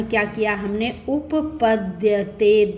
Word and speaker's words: उपपद्यते: अब ये देखिए, ये क्या है, द और यह मिला हुआ है, तो उच्चारण क्या किया हमने, उपपद्यते, द और यह।